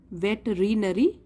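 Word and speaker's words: veterinary: का डॉक्टर और please spelling पे ध्यान दीजिए स्पेलिंग तो होता है इसका वेट्रीयरी वेटरनरी बट बोलते हैं इसको वेटरनरी डॉक्टर बहुत समाज का मतलब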